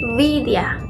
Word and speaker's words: Vidya: Jadi kayak misalkan ada bahasa Widya. Kalau kita kan orang Indonesia ngomongnya Widya ya, meskipun W-I-D-Y-A kita bacanya tetap Widya. Tapi kalau di India mereka ngomongnya Vidya.